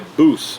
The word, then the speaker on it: Boos: It's made by Boos, B-O-O-S. Pretty sure that's how you say it.